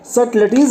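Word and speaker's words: subtleties: False, यहां पे है सटलिटीज, सटलिटीज है क्योंकि यहां बी जो है वो साइलेंट है।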